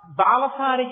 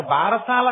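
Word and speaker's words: బాలసారె: గబగబా తల ఏదో ఆ బాలసారి చేస్తుంటారు బారసాల కాదు బాలసారే బాలసారే అంటే బాలునకు ఇస్తున్న సారే కాలుక దాన్ని భారశాల భారశాల భారశాల ఎంత భారమైనా ఎక్కించారు కథలు దాని ఉచ్చారణ బాలసారే బాలసారే యందు ఆ ప్రసన్నమైనటువంటి తల్లి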